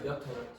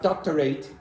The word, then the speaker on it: doctorate: Doctorate. It's not doctorate. This is not very strong, so this becomes doctorate. Exactly, doctorate. Now you could say PhD as well, but it is also acceptable to say doctorate.